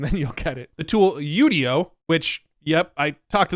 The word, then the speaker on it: Udio: talked to the founder he said internally they pronounce it Udo everybody else has been calling it udio which I actually think is funner to say but it's actually called yudo apparently they just rolled